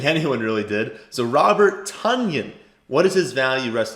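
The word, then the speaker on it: Tonyan: it is actually not tanyan i saw that on twitter apparently he came out he said it's pronounced kind of like a funyun is i didn't know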